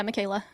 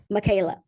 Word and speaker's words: Mikaela: I wanted to ask you I hope I'm pronouncing your name correctly Michaela right yeah yeah Michaela Michaela now you've had a lot of success can